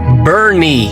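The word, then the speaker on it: Boerne: Pronounced Bernie, spelled Bern.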